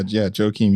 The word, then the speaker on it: Joakeem: Please tell me I pronounced your name correctly too. Oh yeah, Jaokeem, you got it.